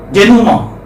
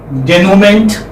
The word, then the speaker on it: denouement: Because what is the pronunciation? Denuma. How do we describe it? We describe it Nu, Ma. This is how it is described. Denouement. Do you understand this? Yes, sir. And like one who doesn't know the pronunciation might say denouement, which will be very absurd, very awkward, very weird.